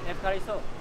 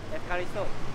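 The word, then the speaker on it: ευχαριστώ: Thank Efkariso. Say again. Efkariso. F. Efkariso. Efkariso. Efkariso. Thank you. We need to know thank you. This is the most important term as a traveler. Okay. Efkariso.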